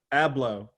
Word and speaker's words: Abloh: How do you pronounce your last name, Virgil? Abloh. Abloh.